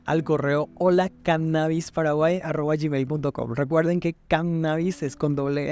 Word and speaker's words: cannabis: Sin embargo, durante las últimas décadas se ha introducido en nuestra lengua el término cannabis, con el acento en la primera A, tomado a través del